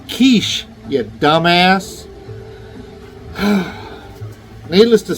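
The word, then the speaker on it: quiche: I said, "That's pronounced kiche, you dumbass."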